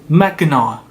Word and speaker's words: Mackinac: Mackinac, not Mackinac. C at the end is useless.